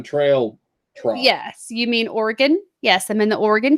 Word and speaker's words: Oregon: little gap that summer when you're in the Oregon Trail yes you mean Oregon yes I'm in the Oregon Trail gap